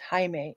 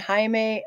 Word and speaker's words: Jaime: I think this might actually be pronounced Jaime, if it's Spanish.